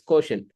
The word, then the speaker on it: quotient: and quotient right quotient someone someone can say quot but it's it's pronounced as quotient so some difference product